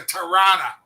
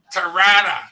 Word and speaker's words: Tirana: And hopefully this summer, I may pass by and see you and your mom on the way to Tirana. Oh, boy. Tirana. Isn't that how Americans say it?